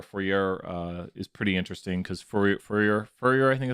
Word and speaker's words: Fourier: Fourier is pretty interesting because Fourier, I think it's called Fourier. That's what it is, Fourier. Someone told me how to pronounce it.